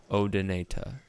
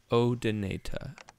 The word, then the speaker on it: Odonata: of insect called odonata or as i think british people pronounce it odonata oh donata but damselflies are smaller